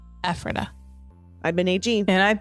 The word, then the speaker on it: Ephrata: It's pronounced Ephrata in Lancaster County. Ephrata.